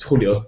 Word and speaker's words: Julio: It's a Spanish name, so a bit awkward to pronounce it. It's Julio, so.